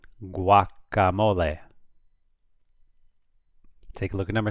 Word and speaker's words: guacamole: Well, here we have G-U-A, so you pronounce it. Guacamole.